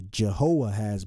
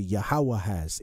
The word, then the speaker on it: Jehoahaz: So in English, they transliterated to Jehoahaz, but it's really Yahweh-has if they was trying to say it properly to the best of their ability.